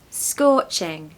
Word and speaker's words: scorching: I suppose pronunciation tip don't pronounce the r I've said before you've got to just take it away forget it exists so score scorching scorching it's almost like